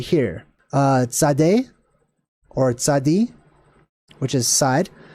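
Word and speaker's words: Tzade: which is kind of how the letter is pronounced Sade Sade or t z a d e mint side essentially or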